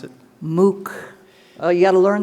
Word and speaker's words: MOOC: i wrote down is m-o-o-c how do you pronounce it mook oh you got to learn this mark this